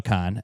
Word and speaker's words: Kahan: I read it as Kahan every single time. It's spelled Kahan, but it's Noah Kahan, and I really liked Noah.